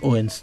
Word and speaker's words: Odense: Le D ne se prononce pas dans cette ville, sur cette ville-là, Odense. On dit Odense, du coup.